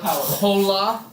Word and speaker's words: hola: Or Hola. Oh. Basically, every H is silent in Spanish.